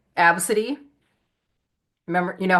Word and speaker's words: Abcde: That really cool name, Absidy. Remember, you know how it's spelled? ABCDE. Oh, Isn't that outstanding? My name is spelled ABCDE, Absidy.